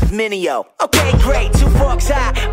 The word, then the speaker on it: Mineo: Try to say my name, it's Mineo. Say it with me, Mineo.